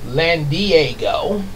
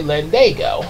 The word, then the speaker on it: Landago: was how I spelled it but I kept pronouncing it land Diego yeah like sort of like you know land